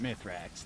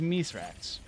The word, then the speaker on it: Mithrax: about my threats what his name's not mythrax that's a mispronunciation it's me slacks it is Miss racks we the humans all say it myth racks but if you listen to Saint 14 he says it right yep oh that's fair